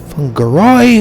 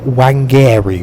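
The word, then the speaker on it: Whangarei: NZWR Fungarai, although you really don't want to know how I used to pronounce that before I started getting my head around Maori pronunciations of things. I think Wangari was my first ever attempt at trying to read that.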